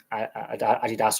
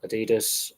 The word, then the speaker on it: Adidas: just Nike or Nike depending on how you pronounce it a lot of um leagues and teams uh like Puma Nike Adidas or Adidas Umbro all all the major manufacturers occasionally to